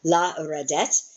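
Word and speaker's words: לרדת: 3 syllables, you have la, red. Re is your accent because there's 2 syllables in a row. La redet. And then I emphasized the wrong one, but it is 3 syllables. 1, 2, and 3.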